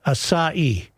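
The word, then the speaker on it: açaí: He said that berry is pronounced asah. Asai asai berry.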